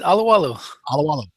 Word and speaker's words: Alualu: Anyway, we all know who we're talking about, but none of us can pronounce it. I forget. Alualu. That's it. Alualu.